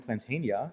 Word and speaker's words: Platania: Jim Platania is how you say his last name.